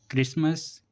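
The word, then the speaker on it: Christmas: जब किसी वर्ड के शुरू में सी एच के बाद आर आए तो सी एच को का से पढ़ते हैं। ऐसे क्रोनिक क्रोम क्रिश्चियन क्रिसमस क्रिस्टुलाइट इन वर्ड्स में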